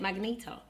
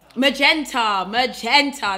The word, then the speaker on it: magenta: I love the pinky magneta, how do you say magneta? Is it magneta? Magenta, that's what you call it.